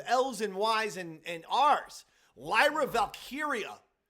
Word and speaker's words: Lyra Valkyria: Just change the Valkyria to Valkyrie. No, Even because if it's she's Lyra known- Valkyrie. She's known from NXT as Valkyria.